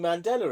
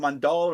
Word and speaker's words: Mandela: It's the fucking Mandela effect in here. Not Mandela. Is it What is- Mandela effect? Yeah. Oh no, because you always say it wrong. You kept saying the Mandala Well, I effect.